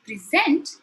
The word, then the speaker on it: present: e se empty but stress plays an important role in conveying the meaning when I say pleasant it means a gift present if I say present it is something that I'm delivering a an information perhaps with the PPT so here I am to present today's session what if I switch the stress this is your present for your birthday the meaning changes also note that present